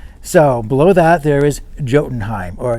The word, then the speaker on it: Jotunheim: below that there is jotenheim or yotenheim because i think i'm not supposed to pronounce the j even though i learned